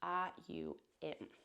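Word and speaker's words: Aum: Um has three syllables. So it's the a sound. It's not the o sound. It's the au m sound.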